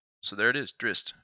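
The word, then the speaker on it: Drizzt: it and he said drist like the two Z's make like the sound likeing Pizza he said drist with a t on the end so there it is drist drist D eron I like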